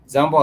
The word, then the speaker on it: jambo: Jambo has two syllables. The syllable ja and mbo.